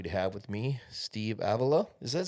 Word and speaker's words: Avila: name my man well it depends on where you are in the world ailla is how we say it in America okay Avilla is more Spain and Portugal